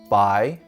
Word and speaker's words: 白: This character is pronounced bai and means white.